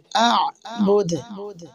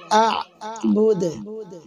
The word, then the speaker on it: أعبد: মা তিন আলিফ আ'বুদ ওয়াকফ করলে দাল জজম হবে তাই দাল কলকলা হবে আ'বুদ এবং দালের কলকলাটা পাতলা হবে মোটা কলকলা করা যাবে না আ'বুদ এরকম পড়লে ভুল আ'বুদ আওয়াজটা নিচের দিকে নামবে প্রায় জেরের মতন শোনা যাবে এরকম কলকলা করতে হবে আ'বুদ ولا أنتم عابدون